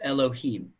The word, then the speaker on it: Elohim: other what happens is this is pronounced as Elohim okay so if when I